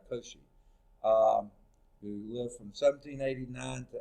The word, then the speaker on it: Cauchy: You know, the French mathematician Augustin Louis Cauchy, I think is how you pronounce, Cauchy, who lived from 1789 to 1857.